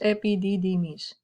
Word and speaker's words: epididymis: 6 meters, epididymis. Epididymis. 5 syllables lang.